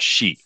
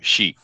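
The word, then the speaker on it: し: in Japan particularly now the number four is uh pronounced she uh but the word for death is also she therefore the word of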